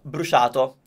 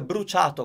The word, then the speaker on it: bruciato: probabilmente sentito la pronuncia brusciato. Ma è incorretta, non esiste, è sbagliata perché in italiano si dice bruciato, con la "C", bruciato.